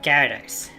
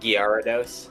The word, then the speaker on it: Gyarados: I would say Gyarados. Gerados. I go G. I guess like the I guess like the Y is silent for me.